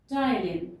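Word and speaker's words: ptyalin: of the enzyme is tylene p is silent here and the name of the enzyme is stylin or you call it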